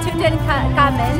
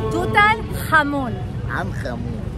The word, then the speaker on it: Tutankhamun: And he's teaching me how to say Tutankhamun. And how do you say in Arabic? Arabic. Yes. Tutan? Tutankhamun.